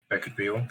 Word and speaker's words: Beckett Behel: But yeah, Beckett Behel, that's how you pronounce my name. Last name is a silent H.